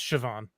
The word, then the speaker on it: Siobhan: one character is the name is spelled s io b h accented a n and yep you look at it and you're like what? And it's just Siobhan.